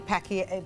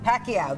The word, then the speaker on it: Pacquiao: Manny Pacquia Pacos. Pacquiao. Pacquiao.